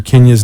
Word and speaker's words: Kindya: Kenya's name so the D is silent ki and dy a